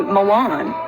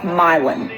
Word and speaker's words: Milan: are just pronounced wrong you think this would be milan like you know the city in italy no it's milon mylon oh you know like